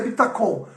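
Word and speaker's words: ביטחון: Mas a pronúncia, eu fui procurar a pronúncia, é bitacon, ok?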